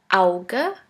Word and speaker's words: Auge: The second letter combination is AU, which is pronounced like ow. Here we have the example of the word Auge, which means eye.